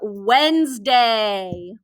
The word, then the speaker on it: Wednesday: as our trick words the first word is wednesday wednesday what's the trick word wednesday now notice how this word is spelled if i chunked it into syllables wednesday